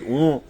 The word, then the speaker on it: ओं: यो मन्त्र भनेको एउटै अक्षरको पनि हुन सक्छ, जस्तो कि ओं। फेरि ओं वज्रयान बौद्ध धर्मले जुन लेखिने ओंलाई तपाईले कहिले पनि ओम भनेर उच्चारण नगर्नुहोला। ओं भनेको पेट नफाटेको ब जस्तो हो।